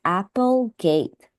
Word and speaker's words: Applegate: So here I would just say that for this name of the author, since here it's spelled Apple, so I think this is pronounced as Applegate. So just be careful of that.